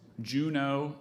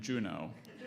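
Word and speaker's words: Juneau: of curiosity are there any alternate pronunciations of that name there's Juno and Juno it's very very as you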